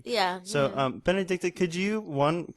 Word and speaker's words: Benedicte: health yeah sure uh my name pronounced in Danish is benedicta that was close close